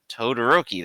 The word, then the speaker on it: Todoroki: here it's zuko and i'll i'll say it correctly the first time todoroki there we go okay it's been a